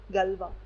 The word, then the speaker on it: Galois: Now note here that we write this to be the Galois field, Galois, given by the scientist mathematician Galois, but we pronounce this to be Galois, right?